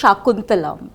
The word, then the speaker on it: Shaakuntalam: that more than that I have been pronouncing the name wrong I guess all this time it's shakuntalam yes I'm saying so